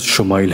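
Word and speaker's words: ישמעאל: کی خوشخبری سنا دی۔ عبرانی زبان میں اسماعیل کا تلفظ شمائل ہے۔ شما کے معنی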